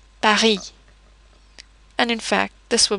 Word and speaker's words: Paris: When consonants occur at the end of a word, they are normally not pronounced. For example, Paris.